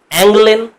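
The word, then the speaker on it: Angeln: Next যেটা, সেটা হচ্ছে অ্যাংলেন, এরকম হবে উচ্চারণটা।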